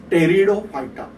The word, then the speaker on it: Pteridophyta: I am saying this is as, I am writing P, but they are practically, I have to pronounce as Pteridophyta.